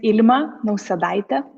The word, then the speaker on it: Ilma Nausedaite: don't butcher it yes so my name is Alma no Salida but you can call me no